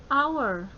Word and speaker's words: hour: Nah, H, H itu di sini hour itu dibaca seperti A dan O ya, hour. A, O, E ya, hour.